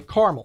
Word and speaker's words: caramel: We kind of ignore the middle A and say caramel, especially when it comes to caramel corn popcorn.